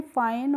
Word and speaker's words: fine: ई vowel होता है, तो उसमें हम क्या करते हैं ई का जो प्रोनाउंसिएशन करते नहीं करते हैं, ठीक है। इसीलिए हम इसको पढ़ते हैं फाइन, और फाइन का मतलब होता है अच्छा।